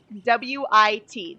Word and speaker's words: wit: whiz W out and you don't don't pronounce the h i don't know if you're not hearing this okay it's Whit wi T there is no h